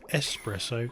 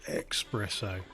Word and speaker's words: espresso: now yes everyone is pronounced espresso not expresso we good they've got